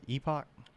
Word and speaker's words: Epoch: that was it yeah epoch is that how you pronounce that at puck yeah epoch well it basically started uh